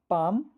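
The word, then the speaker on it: palm: पाम could walk. फिर से पढ़ें। पाम could walk. देखें। यहां पर हम पाम पढ़ रहे हैं तो एल साइलेंट लेटर है।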